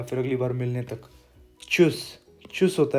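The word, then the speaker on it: Tschüss: मतलब यहाँ पे टी है लेकिन इसकी साउंड हल्की सी आती है, जैसे च से ही शुरू हो रहा है चुस, ऐसे।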